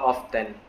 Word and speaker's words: often: other country um pronounce this one as how often but um the correct pronunciation is here is often just like the